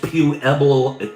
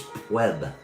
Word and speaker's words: Pueblo: Pueblo. Okay. It's not pronounced pew eblo. Pewlo. No, it's PB. Don't try the pew. It's pblo.